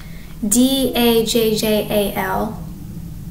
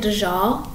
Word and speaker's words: Dajjal: So I've learned that D-A-J-J-A-L, Dajjal, and I'm not pronouncing it like it's someone.